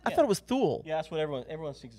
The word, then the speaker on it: Thule: We have a Thule Tapui Foothills tent. Now, what? Why is that significant? That sounds like something you say when you're angry at your child. You know, Thule Tapui.